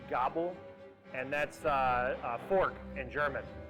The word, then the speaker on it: Gabel: Well, my partner always wanted to name a restaurant the Gabel, which in German is actually pronounced die Gabel, and that's fork in German.